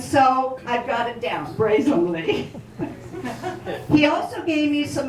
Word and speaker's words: Broesamle: And so he wrote it out for me, and he said it's 3 syllables. Broesamle. Bray like a donkey, Sam like our uncle, and Robert E. Lee.